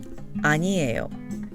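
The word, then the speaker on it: 아니에요: would like to note don't get confused between anio and aniel the three-syllable word anio means no in English and the four syllable word is a verb to tell what something or someone is not let's get back to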